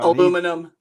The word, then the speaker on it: aluminium: And he had one of those aluminium plain P-47s they had in the summer. Aluminum. Go on. Aluminium. It's my show. It's my pronunciation.